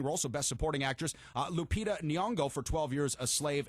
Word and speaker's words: Lupita Nyong'o: Best Performance by an Actor in a Supporting Role, so Best Supporting Actress, Lupita Nyong'o for 12 Years a Slave. And then we got the pronunciation we right.